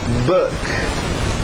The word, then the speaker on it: book: Book. é igual good, book. É um som diferente, tem que dominar.